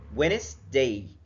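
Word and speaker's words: Wednesday: الكلام اللي اتكلمنا زي كلمه وينز ويندا ما بنطقش الدي فيرست دي السايلنت ويندا يعني يوم الاربعاء وينداست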